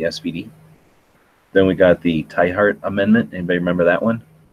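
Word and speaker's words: Tiahrt: Then we got the Tyhart Amendment. Anybody remember that one? This is 2003. Tyhart Amendment. Republican from Kansas, so I'm surprised Gary doesn't know. It's yeah, T-Hart. That's how it's pronounced.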